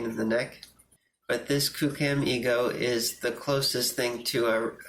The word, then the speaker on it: QooCam: 3d camera on the market it's called the kucam ego that's spelled q-o-o-c-a-m one word and then ego ego